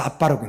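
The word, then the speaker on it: אבא: 그게 히브리어는 이제 여러분 공부하시면 알지만 그 점이 들어가면 그걸 세게도 읽지만 두 개로도 읽는 거예요. 두 개로도. 기역이면 쌍기역을 읽는 것이고 아니면 세게 읽는 거니까 당연히 베트에 점이 들어갔으면 어떻게 읽어야 돼요? 그래서 아빠라고 읽는 겁니다.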